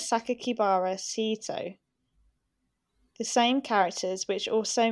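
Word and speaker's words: 酒鬼薔薇聖斗: included a sixth character name that can be pronounced as sakakibara sito the same characters which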